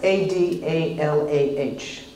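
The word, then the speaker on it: Adalah: A-D-A-L-A-H, just like it sounds, Adala.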